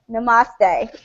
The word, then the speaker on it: Namaste: Namaste.